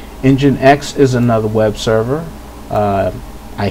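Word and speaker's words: nginx: briefly talk about is this one here you pronounce this one has untold engine X engine X is another web server I hear it's becoming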